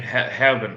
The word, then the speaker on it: Gerben: I love how you pronounce Gerben's name, Herben. I love that.